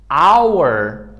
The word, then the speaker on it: our: mind right now is that sometimes H is not also pronounced before, you know what? Before O and U.